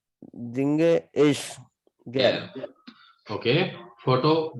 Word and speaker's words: singe ich: Jinge ich सही pronunciation कीजिए. Jinge ich Singe ich gern.